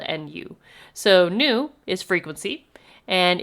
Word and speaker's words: nu: represented by this now it looks like a v it is not a v it is the symbol Nu which is spelled n u so Nu is frequency